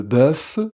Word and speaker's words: bœuf: mange on a aussi le bœuf la même prononciation que F ou le numéro 9 donc c'est le mal